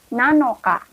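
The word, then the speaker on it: 七日: Hai, bahasa Jepang tanggal 7 adalah nanoka. Jika pengucapan angka 7 dalam bulan menggunakan cara baca lainnya dari Nana, nah untuk tanggal 7 ini pakai Nana tapi di belakangnya diubah sedikit. Jadi nanoka. Jadi tanggal 7 bahasa Jepangnya adalah nanoka.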